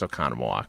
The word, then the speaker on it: Oconomowoc: Let's go to Kenton Oconomowoc. No, I know how to say that one. It's Oconomowoc.